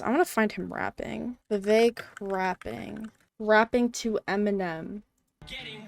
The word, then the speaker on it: Vivek: I say my name's Vivek, it rhymes with cake.